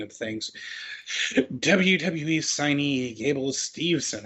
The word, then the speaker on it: Steveson: WWE signee Gable Steveson, I always have a hard time pronouncing that. I was going to go Stevenson, wins second consecutive NCAA wrestling title. WWE signee Gable Steveson, there I did it.